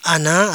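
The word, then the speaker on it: أنا: Ar ini adalah dibaca ana artinya saya.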